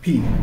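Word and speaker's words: π: not by summation we refer to it by pi actually this one is pronounced in its own Greek form P the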